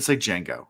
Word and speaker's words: Django: It's like Django. The D is silent.